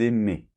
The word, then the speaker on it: aimaient: Donc par exemple, pour le verbe aimer, j'aimais, tu aimais, il aimait, nous aimions, vous aimiez, ils aimaient. D'accord? A-I-E-N-T se prononce et.